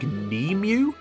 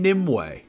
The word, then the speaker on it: Nimue: Also, Merlina calls the Lady of the Lake Nemu? Nemu. It's fucking Nimue.